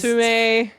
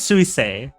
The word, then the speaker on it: Suisei: Sume. Who is Sume? There's no Sume in Hololive. Am I getting your name wrong? I think it's Suisei.